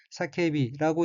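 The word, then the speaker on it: 叫び: 셋째 줄 첫 번째 어휘는 한자가 부르짖을 규자이고 일본어로는 사케비라고 읽으며 사케비는 외치다, 강하게 주장하다는 뜻인 사케부의 연형형이고 뒤에 쉼표가 오는 형태로 사케비는 외치고란 의미입니다.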